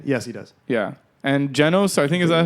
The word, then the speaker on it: Genos: Yeah, and Genos, I think is that how you pronounce his name? Genos. Genos, yeah, he looks the dopest.